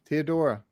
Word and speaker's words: Teodora: us to pronounce it she said oh no tea dora teodora teodora just plain she just wasn't she doesn't want the accent is the idea she's